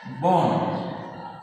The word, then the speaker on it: বন: 2 নম্বর উদাহরণটা দিয়ে দিই, যেমন বন, এর উচ্চারণ হবে বয়কারে দন্তান্ন বন।